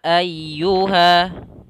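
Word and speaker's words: أيها: kita baca a Kemudian pada lafal Ayuha di sini ada ya Yang bertasydid Salah satu sifat huruf ya ya ya itu adalah huruf Lin Yang mana membacanya harus dengan lembut maka sambil ditekan di huruf ya-nya kita tekan dan kita baca Yu ayyu ayyu ya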